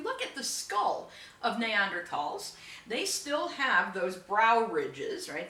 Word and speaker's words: Neanderthal: with homo sapiens uh neanderthal densest or basically homo sapiens neanderthal neanderthal man but of course it's german so th is actually pronounced like a t uh now neanderthal lived